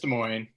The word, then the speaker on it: Des Moines: Hey, how do you pronounce that? Is Des Moines or is it just Des Moines? Just Des Moines.